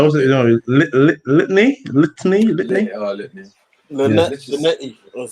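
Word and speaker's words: Linetty: Linetti.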